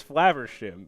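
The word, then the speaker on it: Flaversham: flavers yeah oh okay my brain goes flavor wi but no it's flavers shim which is not even phonetically similar beautiful well you know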